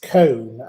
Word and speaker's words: Cone: Well, I would add an apostrophe and an S beyond it, but cone is pronounced cone, as in ice cream cone.